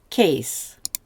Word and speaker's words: kéz: So a hand, kéz. More than one hand is kezek. So the E shortens from E to E, and the Z then comes on to the second syllable.